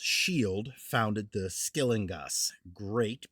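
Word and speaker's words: Scyld: Skeleddwa otherwise known as sky pronounced shield founded the skelling great pronounced g or gate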